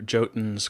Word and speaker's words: Jotun: According to Jotun's creative director and founder of Thunder Lotus, William Dubé, who, yes, pronounces the name of his own game as Jotun, one of his goals